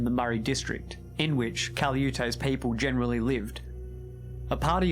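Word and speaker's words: Calyute: the name of Caliute, some people have different versions of how his name's pronounced, but that's how I'm going to pronounce it, Caliute, who some settlers would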